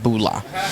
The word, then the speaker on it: bula: bars serve fijian cava cheers in fiji is pronounced bulla so there's a bunch of other kava bars